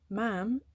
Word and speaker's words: ma'am: done something very special mam is spoken to rhyme with jam i'm practicing my courtesy